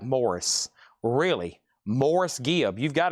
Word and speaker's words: Maurice: Maurice is pronounced like Morris. Really? Morris Gibb. You've got to be kidding me. I didn't know that. Love Moraice. Morris. Maurice.